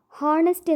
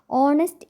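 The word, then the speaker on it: honest: ഈ ഒരു വാക്ക് ശ്രദ്ധിച്ചോ അതില് എച്ച് സൈലന്റ് ആണ് അതുകൊണ്ടുതന്നെ ഹോണസ്റ്റ് എന്ന് വായിക്കുന്നതിനു പകരം നമ്മൾ ഹോണസ്റ്റ് എന്നാണ് വായിക്കാറ് അപ്പോ ഇന്നത്തെ ക്ലാസിൽ നമ്മൾ അക്ഷരങ്ങളെ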